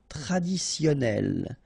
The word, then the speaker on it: traditionnel: Okay, so you get double N here. Traditionnel.